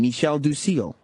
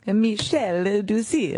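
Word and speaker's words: Michel du Cille: Well, they invited a Pulitzer Prize-winning photojournalist named Michel Ducil. Why'd you have to say it like that? That's his name, Michel Ducil.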